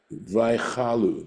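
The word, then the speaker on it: וַיְכַלּוּ: Vaychalu, that's how it's pronounced, right?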